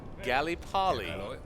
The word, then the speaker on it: Gallipoli: just fine to me gallipoli they're singing about gallipoli but they pronounce it gally polly excuse me all right